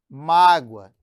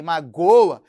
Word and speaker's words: mágoa: Eu tenho também um caso da palavra mágoa, que é diferente de magoa. Olha a sílaba tônica em mágoa, representado pelo acento gráfico. Em magoa é acento da sílaba tônica, né? Que é o acento prosódico.